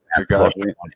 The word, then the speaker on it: Chikadze: I can't even pronounce this guy's name. Giga Chikadze. Oh, Chikadze.